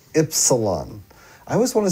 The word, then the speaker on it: Ypsilon: Go ahead and tell everyone how it's pronounced. Ypsilon. Ypsilon. I always want to say wipes.